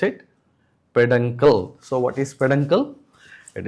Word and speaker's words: peduncle: Pronounce it peduncle.